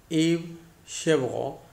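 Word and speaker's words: Yves Chevrel: I'm reading it in the French pronunciation of that name. Yves Chevreau, what he did, on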